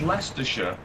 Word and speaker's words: Leicestershire: Like, I know that Leicestershire is spelled Leicestershire, but you'll say it's Leicestershire, and they'll go, okay, yeah, so you're from Leicestershire or Worcestershire?